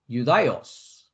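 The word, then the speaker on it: Ἰουδαῖος: You see here, Jew, Judaios, the Greek pronunciation.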